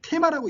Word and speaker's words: theme: 자, 보통 우리가 이 theme인데 우리는 테마라고 있죠. 이 테마. 영어식 발음은 theme이겠죠.